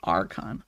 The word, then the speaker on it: archon: could happen archon archon Okay like icon but archon I got it sorry for saying it